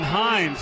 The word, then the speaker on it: Hines: Hampton Hines was talking to her before the game. As we announcers, as we do, we get pronunciations, and she goes, it's Hampton, and then she goes, like the sauce.